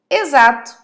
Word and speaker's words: exato: Então, eu vou te dar o exemplo de algumas palavras que são escritas com X, mas são faladas com Z. É o caso de exagero, exato e exemplo. São 3 palavras que são escritas com X, mas são faladas, pronunciadas com o som de Z. E temos também o caso do S.